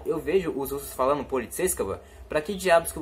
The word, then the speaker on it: полицейского: Esse kava aqui, ó, não é kovo, não se fala полицейского. Você fala полицейского, tá? É assim que os russos pronunciam. O O, ele tem som de A, às vezes.